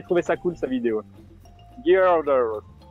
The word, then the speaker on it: Gyarados: Gyarados. Gyriados, on dit normalement, oui. Prononcé. Mais ça s'écrit avec un G, Y.